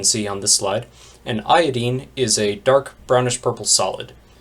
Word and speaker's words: iodine: The members of this group include fluorine, chlorine, bromine, and iodine, or as it's sometimes pronounced, iodine.